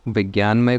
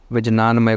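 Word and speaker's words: vijnanamaya: विज्ञान मय कोस इंटेलेक्ट इसको आपको विजनान मय कोर्स नहीं पढ़ना है I don't know why spelling is like this लेकिन विज्ञान में कोष को ही कोष को ऐसे ही लिखा जाता है वी आई जे एन ए एन सो आनंद में कोष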